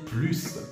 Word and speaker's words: plus: Ça veut dire que si dans la phrase, tu peux remplacer « plus » par « davantage », ça veut dire que tu peux à l'oral prononcer « plus ». Ça veut dire que tu prononces le S.